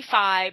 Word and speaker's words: Fi: It could be Phi, but I call her Fee because you have the characters Mito and Fido and Ocarina of Time, which I take to be the solfege syllables. Okay. So I call her Fee because of the solfege syllable Fee, which is raised Fa.